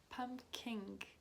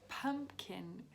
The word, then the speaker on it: pumpkin: of the word pumpkin because i pronounced it pumpkin you know like kink but there's no g in the end of the word so pumpkin it's tricky it can